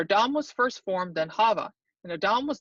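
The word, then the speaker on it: חַוָּה: I know they say it's Eve, but it's Hava, or it could be Hawa, or Hua, some pronounce it, because she was the mother of all living.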